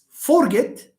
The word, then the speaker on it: forget: Do you say forget? It's a common mistake in the pronunciation of so many students. Teacher, I forgot. No, it's I forgot, not I forgot. Forgot. There is a difference. So it's not forget, it's forget. Fer is just a weak one. Forget. Get is the one that is stressed. Because it's a verb and because it has 2 syllables.